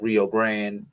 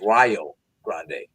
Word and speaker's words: Rio Grande: Stillman defeated Rio Grande 83-79. Excuse me, it's Rio Grande.